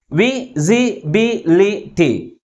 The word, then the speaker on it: visibility: But which syllable is pronounced with a greater force? That is B. B-I-B. And also this word ends with ITY suffix. That's why the primary stress is on the third syllable from the last. How we articulate this word? Visibility. Visibility.